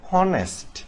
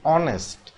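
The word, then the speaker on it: honest: মত উচ্চারিত হয়েছে তাহলে এটা হওয়ার কথা ছিল অনেস্ট কিন্তু এটা হয়েছে কি অনেস্ট আর এই কারণে এইচ যেহেতু এইচ এর মত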